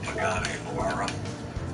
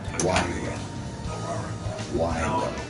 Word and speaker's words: Pagani Huayra: But he's driving his Pagani Huayra. It's only $1 million. Is that how you say it? Pagani Huayra.